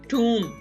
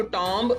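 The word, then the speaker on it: tomb: टूम, यहाँ पे mostly pronounce किया जाता है इसको टॉम्ब, वो गलत होता है. This is टूम, remember that.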